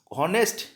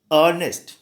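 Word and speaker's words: honest: सो एच नहीं, ये पे ध्यान देना, ए पर। ऑनेस्ट होता है अर्नेस्ट।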